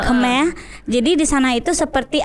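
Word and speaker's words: Khmer: keme oke keme keme kita mungkin bacanya kemer Ya kemeh jadi di sana itu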